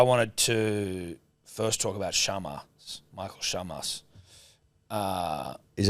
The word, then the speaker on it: Chammas: to first talk about Shamas. Michael Shamas. Uh, is have we been saying it wrong? It's Sharma the way that um Pereira says it.